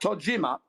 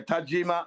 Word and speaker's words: Tajima: Was that Was that Tojima? Tajim Tajima. How do you say that correctly? Yeah. Tajima.